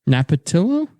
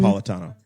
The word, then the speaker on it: Napolitano: Napatillo? Is that how you pronounce Andrew it? Napolitano.